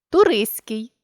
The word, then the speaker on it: туристський: що утворені від іншомовних іменників над т Турист туристський гігант гігантський баласт баластний компост компостний контраст контрастний